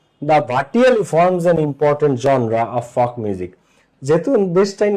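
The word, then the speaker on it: genre: এটাকে কিন্তু জেনরি বলে না, তোমরা এটাকে জেনরি বা জেনরা বলো বা জেনার বলো, তো এটা জেনরিও না জেনারও না, ঠিক আছে, জেনরিও না জেনারও না, এটা কি জনরা, জনরা, ঠিক আছে, জনরা, জনরা, ঠিক আছে, এটা উচ্চারণ।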